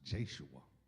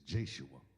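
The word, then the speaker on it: Yeshua: But if you translate the name Jesus in the New Testament in Greek, it is pronounced the same as Joshua's name, which is Jeshua.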